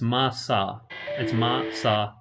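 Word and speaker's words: Masachika: massage masa chica not could be the japanese pronunciation right it's masa i say masa like the grain masa chica i mean not the grain but the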